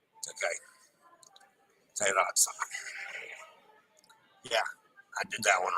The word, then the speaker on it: Terrazza: Terrazza. Roll the R, remember. E is pronounced A. A is in day. Yeah. Terrazza. Okay. Terrazza.